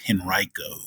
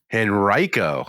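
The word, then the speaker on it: Henrico: too too many people upset but it's it's pronounced henrio henrio I'm I stand corrected I'm sorry I've been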